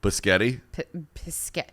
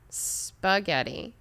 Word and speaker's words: spaghetti: please did you have any friends that couldn't pronounce the word spaghetti and called it schedule bischetti bischetti first of all where flux of bee